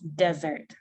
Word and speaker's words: desert: But don't confuse dessert with desert. Вот посмотрите в слове desert, оно не под ударением.